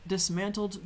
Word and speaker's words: dismantled: The merchant at the market dismantled their booths before heading home. And so, dismantled there. And when I say it, you can't really even hear the D. Dismantled because I'm hardly pronouncing it at all.